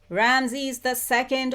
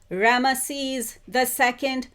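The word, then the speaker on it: Ramses: That you are the reincarnation of Ramsy's II or Ramisees II. I think it's pronounced both ways.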